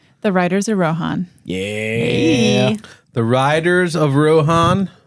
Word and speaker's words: Rohan: So when I read this I said, "Oh, I know how to say this." Rohan. Like Lindsay Lohan. Oh, Lohan. I love it. It's not that way. That's the the rube way to say it. It's Rohan.